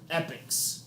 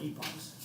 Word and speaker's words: epoch: Usually it is split into epochs or epochs.